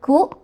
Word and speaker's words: ku: Dalam bahasa Jepang, 8 itu dibacanya ya, 9 itu dibacanya ku, dan angka 3 itu dibacanya za.